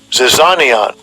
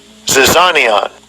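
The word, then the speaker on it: ζιζάνιον: Zyzizion, something like that, right? Zyzizion. All right. Let's see how it's spelled. Pronounced. Strong's G 2215. Zizanion. Zizanion.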